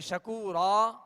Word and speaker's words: شکورا: اب یہاں جب وقف کریں گے شکورن تو پھر جو ہے یہ الف مدہ اس کا پڑھا جائے گا، یعنی شکورا کہہ کر وقف کریں گے.